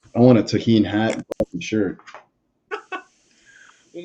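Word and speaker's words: Tajín: This guy right here, little Tahine. The J is silent for you fucking white Kevins out there.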